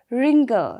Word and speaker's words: wrinkle: will be w w-r-e-s-t-l-i-n-g but it will be pronounced as wrestling okay now next is wrinkle see in wrinkle there is the blue right